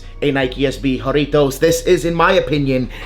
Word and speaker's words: Jarritos: speak Spanish so hey let me know if I'm pronouncing it correctly haritos haritos makes you guys you know pronounce that correctly it is actually fun